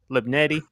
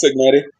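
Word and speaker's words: Cignetti: Shout out to the head coach, Kirk Libnetti. I hope I'm pronouncing the last name right. Kurt Kurt Signetti.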